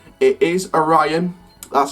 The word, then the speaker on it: Orion: a ryan now obviously in past videos have pronounced it Orry on it is Orion that's how it's pronounced as this has been